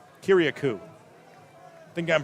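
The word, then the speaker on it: Kyriacou: riders debut and a huge moment for david kiriakou kiriakou i think i'm pronouncing that correct he told me how to pronounce it i tried to write it down the best way could k-y-r-i-a-c-o-u kiriakou it is the 59 195 pound infielder outfield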